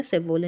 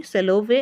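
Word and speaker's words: Salovey: है यह सबसे पहले सॉरी मैंने पहले गलत प्रोनाउंस किया सेवोल नहीं सेलो वे एंड मेयर और उन्होंने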